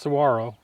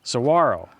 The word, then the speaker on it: Saguaro: All right, well, it's pronounced Saguaro. Saguaro, no G. So the G is like a W.